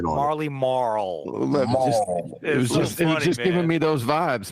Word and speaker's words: Marley Marl: circuit I I like I like Wade's actually Marley Maul pronunciation it's the hard L yeah that Marley M K yo big props of that one that real the hard L Marley Marl just giving me those